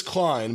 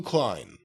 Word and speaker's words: Klein: limit buck masters versus it says hero lewis klein but it's lou cline lou cline all right